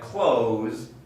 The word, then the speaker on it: clothes: say clothes clothes but don't be fooled by the letter e the e is only spelling there are no speakers of english that say clothes clothes that's just the wrong form and if if you're pronouncing it that way there's a good reason right it would make sense because of the spelling but this e is not pronounced at all it's just a product